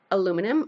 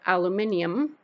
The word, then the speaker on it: aluminium: tin foil to or aluminum or aluminium depending on how you say it and where you're from just to the back